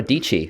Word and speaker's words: Dietschy: are joined today Sara dici which famously rhymes with peachy and Sara is an